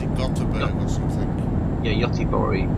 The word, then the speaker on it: Göteborg: Yeah, Göteborg, which is how they say it in Sweden for Gothenburg.